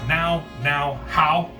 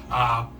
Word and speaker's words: Nouhau: But the first appearance of Afro Samurai is in a comic magazine called Now How. Probably butchered that. It's Nouhau. We know linguistics here. Language is not my forte, but it is Now How number 0, which is his first appearance in comic books.